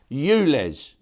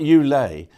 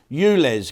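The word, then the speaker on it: ULEZ: smash up Alice's I'll how do you pronounce that Euless not you lay yeah they've got them in in Spain as well it's called you lay no you less cameras okay now let's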